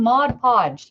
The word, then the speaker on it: Mod Podge: hard to say am I saying it wrong Mod Podge you put Mod Podge on and as soon